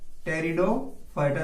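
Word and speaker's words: Pteridophyta: टेरिडोफाइटा, ध्यान रखना यहां पर पी साइलेंट है, ठीक है।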